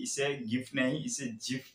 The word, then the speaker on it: GIF: ज्यादातर लोग इसे एक हार्ड जी के साथ गिफ प्रोनाउंस करते हैं। इवन मैं भी इस वीडियो में कई बार गिफ प्रोनाउंस कर चुका हूँ, लेकिन विलहाइट जिन्हें गिफ फॉर्मेट का आविष्कार करने के लिए 2013 में वेबी लाइफटाइम अचीवमेंट अवार्ड से सम्मानित किया गया था, तब उन्होंने कहा था कि इसे एक्चुअली में जिफ के साथ प्रोनाउंस किया जाना चाहिए।